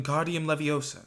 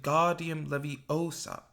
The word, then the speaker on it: Wingardium Leviosa: much more luck when guardium leviosa he shouted waving his long arms like a windmill you're saying it wrong harry heard hermione snap it's when goddium leviosa made the car nice and long you do it then